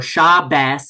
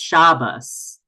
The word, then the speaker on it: Shabbos: It teaches authentic Yiddish pronunciation. It's not sholem aleichem. It's sholem aleichem. It's not Shabbos. It's Shabbos. Shabbos. It kind of approximates to a short s sound, but really this is